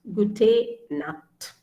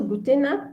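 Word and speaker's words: gute Nacht: it's pronounced as cur so here uh it's pronounced as cur so nut is night gute nut so gute nat is actually not a greeting word it's a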